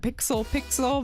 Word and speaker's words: Pixel X Pixel: do a podcast together it's called pixel pixel but it's pixel X pixel the x is silent and we're coming up